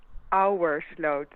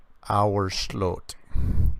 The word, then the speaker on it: Ouwersloot: Ouwersloot, which is pronounced as Our slot. Auersloot. Yeah. that sounds very. You probably you want to say it like ooh, but you just have to figure it's Ow. O-A, like boat, our sloat.